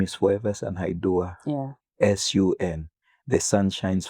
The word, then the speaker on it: Foreversun Haiduwah: My name is Foreversun Haiduwah.